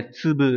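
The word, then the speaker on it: 粒: Hay là chữ lạp này, đúng nhỉ, chúng ta học ở N3 ấy, để tsubu đúng nhỉ, có nghĩa là hạt.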